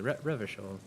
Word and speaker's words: Revachol: Oh, I was pronouncing it correctly. Revachol.